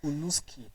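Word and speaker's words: Halušky: as an indigenous, it is supposed to be pronounced as Huluski.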